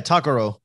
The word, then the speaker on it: Takaro: Yeah, Takaro. Takaro. See, I'll mispronounce. I always tell people, think of like Mexican sushi, taco roll.